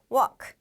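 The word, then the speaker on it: walk: 때는 길 우리 사람들이 지나다니는 걸어 다니는 길을 왁 라고 합니다 우리 이때 l 발음 해주셔야 되요 무얼 크 라고 하시면 되요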